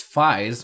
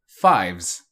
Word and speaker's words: Faiz: I'm pronouncing it as Phi's when it's clearly 5-5-5 it comes from the Greek letter Phi and you can pronounce it fives fives however has been